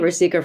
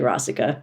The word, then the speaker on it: Rasika: I was calling it Rasika for years, and then I finally talked to Ashok one year, and he was like, "It's actually Rasika."